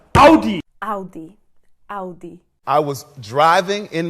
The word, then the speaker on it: Audi: So many people say Audi when it's actually pronounced Audi. Audi. I was driving in my Audi. Never buying an Audi and not interested in Audi.